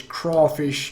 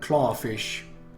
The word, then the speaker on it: crawfish: I already told you it's crawfish, not clawfish.